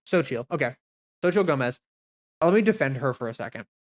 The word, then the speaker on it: Xochitl: Let me look at how to pronounce her name. Xochitl.